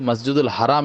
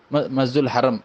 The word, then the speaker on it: மஸ்ஜிதுல் ஹராம்: மக்கள் வந்துட்டு அதிகமாக வந்து மஸ்ஜிதுல் ஹராம் என்று தான் சொல்றாங்க ஆனால் சில சமயம் மருவி மஸ்ஜிதுல் ஹரம் என்று சொல்லக்கூடியதை நம்ம வந்துட்டு பார்க்கிறோம் ஆனால் சரியான ஒரு உச்சரிப்பு மஸ்ஜித் அப்படின்னு வரும்பொழுது மஸ்ஜிதுல் ஹராம் என்று சொல்வதுதான் சரியாக இருக்கிறது அதேபோல கூடுதலாக வந்து என்ன